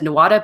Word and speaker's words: Nuada: got out stood by I would pronounce as Nuada but it's like new AHA ever pronounce a constant inside the word apparently seven years of